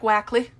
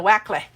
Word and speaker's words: Wakley: Also, just a reminder, my name is spelled W-A-K-L-E-Y. Looks like Wackley. That's why Mario calls me Wakley. So Wakley is my name.